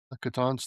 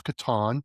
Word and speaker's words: Catan: And last year they celebrated Catan's 30th anniversary where I learned that it's Catan, not Catan, because it's how Klaus pronounced it.